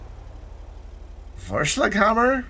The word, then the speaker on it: Vorschlaghammer: next vehicle the benefactor for Hammer I think I said it right i' I've been practicing I Googled it and everything and and listened to people say it in both English and German uh it means Sledgehammer